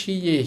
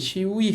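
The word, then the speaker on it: 씨의: দেখেন এখানে উচ্চারণটা কিন্তু হবে শিয়ে, শিউই হবে না, হ্যাঁ এটা গুরুত্বপূর্ণ, খেয়াল করেন, শিউই হবে না, কিন্তু হবে শিয়ে।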